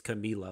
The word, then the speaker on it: Camila: tonight show or something and she's like it's camila like she pronounces it yeah so yeah no and that